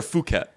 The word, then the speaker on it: Phuket: Is it Phuket or Phuket? I actually don't know. I think it's Phuket. The way they pronounce their P's is weird because Phi Phi Island, when you're there, it's pronounced PP Island.